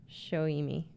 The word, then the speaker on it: Soimi: Spelt Soimi, but pronounced Shoimi.